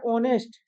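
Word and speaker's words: honest: बेटा क्या होता है ऑनेस्ट में भी हमारा एच साइलेंट होता है बहुत बढ़िया आगे बढ़ते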